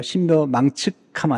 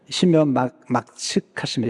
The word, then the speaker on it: 신묘막측: 발음 잘해야 돼요. 신묘망측하면 안 돼요. 신묘막측하심이라.